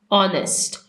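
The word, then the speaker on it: honest: is dash ऑनेस्ट girl ऑनेस्ट ऑनेस्ट में H silent है हम ओ को देखेंगे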